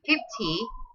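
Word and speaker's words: fifty: say like this one 50 you have to stress the first syllable one 50 50 50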